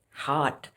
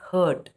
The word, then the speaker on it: heart: The next word is heart. Now, the heart is part of our body, right? But many people they speak this word as hurt.